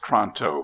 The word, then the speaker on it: Toronto: gleamed but without radiance toronto pronounced tronto please is difficult to describe